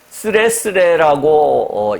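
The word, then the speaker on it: つれづれ: 여기서 도연이라고 하는 것은 일본식 한문인데요. 쓰레쓰레라고 읽는데요.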